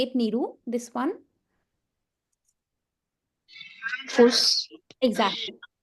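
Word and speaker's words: Fuß: Fuss. Exactly. So this is nothing but equivalent of double S. Okay, so we pronounce it similar to sir, fuss.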